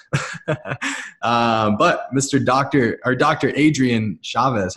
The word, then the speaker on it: Adrian Chavez: Adrienne Chavez how are you ma'am I'm doing great thanks for having me did I pronounce that right yeah he did awesome that's